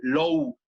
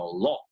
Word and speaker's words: law: lo por ahí y no oyeron el low que esperaban o el lau que esperaban para que sea ley y no le captaron como ley, pero es porque no se pronuncia así, sino law.